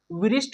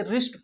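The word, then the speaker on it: wrist: उसी प्रकार इसको विरिस्ट नहीं पढ़ेंगे, इसे रिस्ट पढ़ेंगे। क्या पढ़ेंगे? रिस्ट, क्योंकि रिस्ट में डब्ल्यू साइलेंट है दोस्तों।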